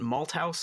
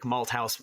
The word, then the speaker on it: Malthouse: Malthouse. Right. Yeah. Fantastic. Just, I wasn't sure if it was a th or my name has a th in it. A lot of people say the th, yeah.